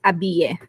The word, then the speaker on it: Abille: I am very happy to be joined today by Odyssa Abille. In the U.S., we actually pronounce this Abille.